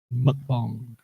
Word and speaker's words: mukbang: comments y' she said it's not bang it's pronounced like like bong mukbang Trey was like first